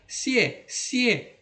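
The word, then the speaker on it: 谢谢: si si sama ya sie sie ini juga dibaca nada ringan sie sie Jangan dibaca sie sie ya tidak ya sie sie sie jadi bacanya cepat sie kemudian keci keci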